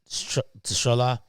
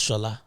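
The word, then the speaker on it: Tsola: He believe he, on returning home to Nigeria in 2008, Prince Tshola Emiko served in the public. It's probably pronounced Shola. I don't know why I'm stressing the T in it.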